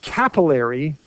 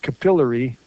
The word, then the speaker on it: capillary: with a double p because the double consonant is where the stress is so i like to be a sort of traditionalist and pronounce it capillary because of the way